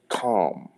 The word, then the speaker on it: Kam: The Christians refer to him as the Hamites, but it's pronounced Kam, the Hamites.